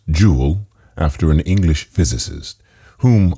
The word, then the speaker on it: joule: meter and this is named the jewel pronounced jewel after an english physicist